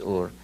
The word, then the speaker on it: Ur: from sumer came from a city called ur or heiress many he'll pronounce it but the true pronunciation is or if he came from